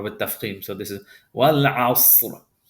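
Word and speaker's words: والعصر: So this is wal asr. We're going to pronounce this ra heavy. Wal asr.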